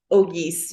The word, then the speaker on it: Auguste: Auguste. Is that correct? It's Auguste. You got the middle name right, but it's Auguste. Auguste.